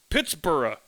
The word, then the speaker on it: Pittsburgh: people of British extraction used the b-u-r-g-h suffix it is always pronounced bura so it's reasonable to